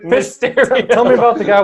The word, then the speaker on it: Mysterio: Say it right. Mysterio. It felt like you're saying a stereo at the end.